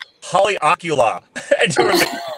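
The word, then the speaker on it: Haleakalā: And all I remember is Colin, I kind of looked at it, and he looked at me, and I said, Haleakala.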